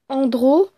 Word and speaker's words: Andrault: Donc elle s'appelle Julie Andro. Donc je vous mettrai en description les lettres de son prénom et de son nom, mais je vous l'ai dit quand même. Donc ça s'écrit Julie espace Andrault.